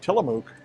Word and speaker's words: Tillamook: the sale price of Tillamook ice cream. So if you like Tillamook, or Tillamook, depending on where you are in the country pronouncing it, $5.99 right now, $2.99 this Saturday and Sunday during a 2-day sale.